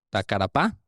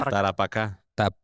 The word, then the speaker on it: Tarapacá: nombres de forma tan perfecta, pero no pueden pronunciar Tarapacá. ¿Tacarapá? ¿Cómo es? Tacarapá. Es que tenemos un capítulo, güey, que hablamos de la guerra del Taparacá. ¿Ya? Tarapacá.